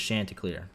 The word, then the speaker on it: Chanticleer: I've literally yeah no every time I've ever heard it pronounced it's chanticleer so yeah I live